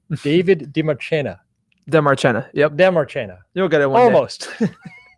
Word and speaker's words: Demarchena: I've been working with this guy for many, many years, and I'm finally going to pronounce his name exactly right. David Demarchena. Demarchena. Yep. Demarchena.